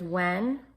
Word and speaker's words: when: So there's when, wahen, remember that silent H in there?